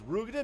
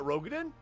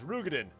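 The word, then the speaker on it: Roegadyn: Oh, it's Rugadin, not Rogadin? For a year and a half, I've been mispronouncing that. It's Rugadin.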